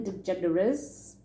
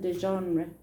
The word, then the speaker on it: DeGeneres: to watch ellen degeneres i don't think i knew how to say it in those days i used to call it i think i used to call it ellen de genre or something ellen de genre um and then there was